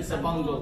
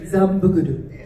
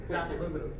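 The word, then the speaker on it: Xabungle: I pronounced it Zabungo, like an American way. Yeah. 正しい発音は何ですか？彼だけザンブグル。 You just say Zambuguru.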